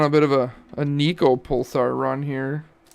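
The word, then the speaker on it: Neco: bit of a a nico pulsar run here is it nico or neko what is he oh he's it's nico he's from wales i don't think it's pronounced differently ah no one of ones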